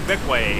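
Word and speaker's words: Bequia: just sailing to beway I think it's called beway it is how do you spell it b e q UIA we almost had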